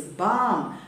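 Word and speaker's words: balm: and what is it or how is it pronounced then c-a-l-m it is com b-a-l-m it is bomb p-a-l-m it is palm even a level between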